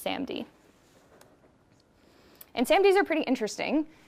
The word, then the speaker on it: SaMD: just this product and this is pronounced SAMD and SAMDs are pretty